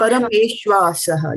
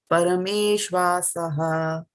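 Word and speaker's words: परमेष्वासः: parameṣv-āsaḥ. Yeah, when you're pronouncing it, this and this will go together. This and this will go together. There's a dash there, right? So Yeah. this becomes one. Yeah, parameṣv-āsaḥ.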